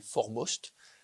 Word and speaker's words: 4MOST: Donc je vais vous présenter cette conférence sur l'instrument qui s'appelle Formost. Voilà, ça catmost mais il faut prononcer for most en anglais.